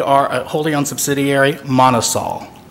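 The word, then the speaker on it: MonoSol: of Japan we are a wholly owned subsidiary Manas all Manas all right M o n o capital s o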